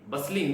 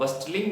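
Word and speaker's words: bustling: over the बसलिस ंग बलिंग देखिए T silent है यहां पर एल के पहले टी साइलेंट ही मानी जाती है तो इसको आप बस्टलिंग नहीं बोलेंगे बलिंग टाउन चिल्ड्रन व बलिंग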